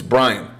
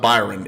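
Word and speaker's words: Bryon: and by the way it's Brian it's not Byron it's spelled Brian with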